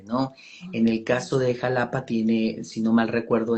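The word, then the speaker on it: Xalapa: como en esta ciudad donde vivo se llama Jalapa, se escribe con X, pero por un acto ahí de rebeldía, ¿no?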